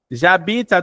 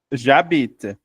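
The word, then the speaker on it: j'habite: Jabita tuluz. Olha o j eu. Mas como o verbo habita começa com a muda, eu também junto. Jabit. Eu não vou falar j abit, eu vou falar jabit.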